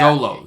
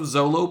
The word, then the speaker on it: Zolo: Zolo. It actually rhymes with solo.